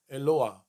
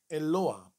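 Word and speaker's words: אלוה: hit or a hay whatever vowel is underneath it is pronounced first and then that last part eloah eloah now you can tell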